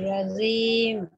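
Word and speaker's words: رجيم: আউযু বিল্লাহি মিনাশ শাইতানির রাজিম। জিম না, জিমটা টি শক্ত করতে হবে।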